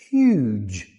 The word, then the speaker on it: huge: But when you put an e at the end of it, it becomes huge. Huge. Huge means very big.